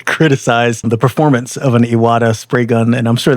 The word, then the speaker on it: Iwata: Most people just know you guys as Iwata, I'm sure. At least you're pronouncing it correctly.